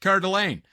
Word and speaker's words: Coeur d'Alene: Or also called the Coeur de I'm going trying to pronounce it French, but they call it Coeur d'Alene.